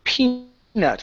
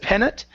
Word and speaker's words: peanut: up is the word peanut give me a long e sound instead of penut okay peanut butter with